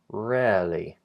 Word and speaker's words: rarely: and then rarely and that second word has a sliding vowel which makes it sound slightly different but the beginning point is exactly the same that e vowel position is exactly the same RAR RAR so that that vow that sliding diff thong begins with the F vow as in red 10 and left and then it slides back and down into an uh uh a neutral schwat position uh air air air really and again here